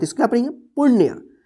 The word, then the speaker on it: पुण्य: तो इसको क्या पढ़ेंगे, पुण्य, यानी अण पे जल्दी उच्चारण होगा पुण्य, ठीक है, पुण्य, ठीक है।